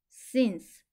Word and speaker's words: since: 에는 느 씨는 스 뒤에이는 소리가 나지 않아요 와 느는 같이 소리 나서 신 쓰는 혼자 소리 나서 스 신스 한 번에 읽으면 since since 뭐뭐 이후 또는